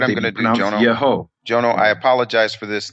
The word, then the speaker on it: Yeho: Whenever Yud He Vav appears at the beginning of a word, it's never Yahu or Yah. It's always Yeho, Yehoshua, Yehonatan, Yehonadav.